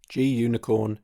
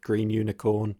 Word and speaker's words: Gunicorn: G-Unicorn is Green Unicorn, and is one of the most popular Python web servers. The maintainers clarified back in 2010 you can pronounce it Green Unicorn, G-Unicorn, or Gunicorn.